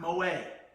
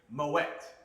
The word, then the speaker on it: Moët: This gentleman, his family, Claude Moët, phonetically, M-O-W-E-T-T. Not Moët, not M-O-A-Y-E, phonetically spelled out. Moët.